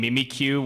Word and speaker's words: Mimikyu: My only complaint is the pronunciation being Mimikyu when it's clearly a pun of mimic you.